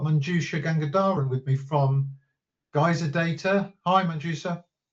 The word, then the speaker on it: Geyser Data: So, welcome to our webinar, Smart Cold Storage in Action with Gaz Gazer Data, Geyser Data, I keep mispronouncing it, and Arp5 Archive.